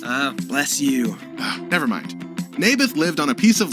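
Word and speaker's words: Naboth: that's what i said may birth i think you're saying it wrong his name was neybeth ah bless you never mind nabith lived on a piece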